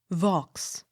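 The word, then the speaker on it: Vaux: v a u x vox the x sounded v i l l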